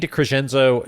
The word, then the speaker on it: DeCresenzo: I think it's pronounced Garofalo. Right. I'm just kidding. It's DeCresenzo.